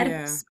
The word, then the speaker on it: Oedipus: it's in the actual like pronunciation guide. It's EH, which is eh. It's Yeah. Oedipus.